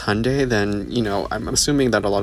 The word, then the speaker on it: Hyundai: Because Hyundai pronounced like Sunday, not Hyundai.